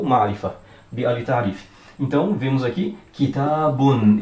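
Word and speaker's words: كِتَابٌ: Mas o final da pronúncia ficará com a letra nun. Então, um exemplo aqui, kitabun. Não será com a letra mim, como sendo se fosse no caso, kitabun, se fosse bum com o mim no final.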